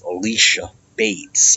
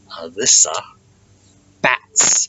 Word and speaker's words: Alyssa Bats: people okay it's it's the name is pronounced the way it looks okay it's this bats there's no e in bats and there's no C and Alyssa got it good